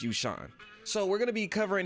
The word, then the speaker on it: Yueshan: in this video is you sean i believe it's how it's pronounced or it could be you shin but i believe it's you sean so we're gonna be